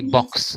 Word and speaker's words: box: as x for example we do not say x we say box so just this particular letter is pronounced as two sounds not as x that is just current